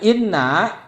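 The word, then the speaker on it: إنّ: hal ini dijeda dengan Inna maka harus dibacanya Inna Inna kasrah Walaupun dia tengah-tengah kalimat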